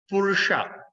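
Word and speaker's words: पुरुष: Purusha. Okay, S at the dot at the bottom, we're going to pronounce as Sha.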